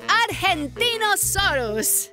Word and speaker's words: Argentinosaurus: Diva I'm the Argentinosaurus whoa that is a big name for a big Dino I have to break it up to say it right R gen teen oh sore us that's me so I'm